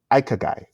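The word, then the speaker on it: ikigai: Pronounced Ikagai is roughly translated to, quote, reason for being.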